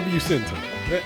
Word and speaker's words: Bucentaur: How to pronounce Bucentaur. Okay. The Bucentaur.